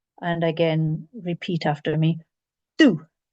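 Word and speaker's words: Dubh: First one, and again, repeat after me, do. The BH is not pronounced at the end of the word in this case.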